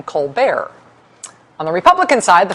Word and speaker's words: Colbert: be Elizabeth Colbert Bush her brother uses a much fancier pronunciation of their last name you know him as Steven colar on the Republican side